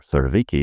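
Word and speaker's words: Surowiecki: of crowds by JM svetki or ciki if you want to pronounce him in American who explored a deceptively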